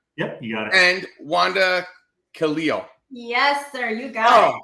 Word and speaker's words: Wanda Khalil: FAS Al alheim yep you got it and Wanda Kalo yes sir you got it oh God bonus